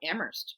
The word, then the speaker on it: Amherst: I'm from Amherst, Massachusetts. Don't pronounce the H.